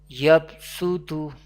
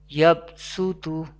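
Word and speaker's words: يَبْصُۜطُ: Yabsutu. We pronounce seen instead of Sod. Yabsutu.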